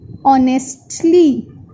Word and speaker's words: honestly: As we are reading this word so many times, so it is honestly. We never say honestly. H is silent, so we say honestly.